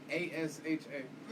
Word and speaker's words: Asha: No, A-S-H-A. Mm. Oh, I Just shouldn't have pronounce said what? that. Look, Asha. Like, Ash, I guess, A. But, like, with the long A.